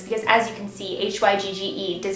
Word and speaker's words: Hygge: It took me a second to realize how to pronounce this because, as you can see, H-Y-G-G-E does not make me think Hygge, so it's pronounced like H-O-O-G-A.